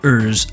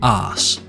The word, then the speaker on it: Urs: The yellow bike is the BMC Urs LT, which definitely shouldn't be pronounced arse.